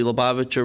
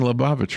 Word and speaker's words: Lubavitch: His name is Rabbi Menachem Schneerson, and otherwise known as the Lubavitcher Rebbe. And so even I'm saying Lubavitch wrong. It's Lubavitch, okay?